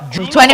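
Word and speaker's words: Yulo: Julo or Chulo? Julo. It's spelled Y-U-L-O.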